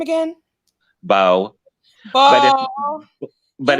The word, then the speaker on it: Beaux: It's spelled BEAUX, like, like the old. Yes, or like, the word that they used in the old South for like a boyfriend, Oh, Bo, that's right.